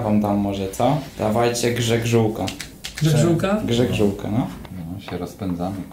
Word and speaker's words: grzegrzółka: Dawajcie grzegrzółka.